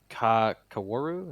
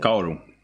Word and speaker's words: Kaworu: And this is a guy named Kaworu. Is that how you say it? Kaoru.